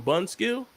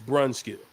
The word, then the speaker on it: Brunskill: type of way about me calling him bun skill he would have every right to say bro stop stop playing with my name like that if you're going to say my name you say my name correct it's brunskill if you can't say my name correct then don't say it at all however he wishes to